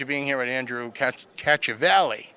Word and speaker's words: Cacciavalli: Cacciavalli, all right. Like Cacciavalli right here in Pahrump Valley, right? Yes, like catching a valley.